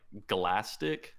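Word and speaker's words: Glaistig: um pronunciation uh and it's supposed to be like galastic like plastic with a g yeah and then when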